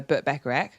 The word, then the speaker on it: Burt Bacharach: i it's because i like burt becker uh burt bacharach yeah no that was very hard um and